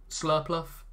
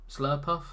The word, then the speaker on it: Slurpuff: pile into your hand we do have slurpluff slurpuff yeah slurpuff is how that pokemon is pronounced um post rotation but